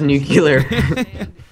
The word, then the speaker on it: nuclear: four was nuclear scientist it's pronounced nuclear Josh name a place